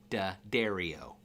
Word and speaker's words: Dario: It said DA had a little slash and dairy like a cow and O. So, dario, that's how you say it properly, apparently.